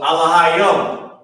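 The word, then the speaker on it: Elohim: So, Alahayim. That's how you pronounce it.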